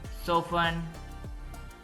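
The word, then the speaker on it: soften: party party फसन बांधना सो फन इसमें T silent है सो फन नरम करना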